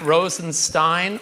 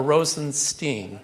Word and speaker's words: Rosenstein: pronounce your that's right is it is it Rosenstein or Rosenstein so there's no right answer to that question my family my father pronounces it Stine that's how I pronounce it but I actually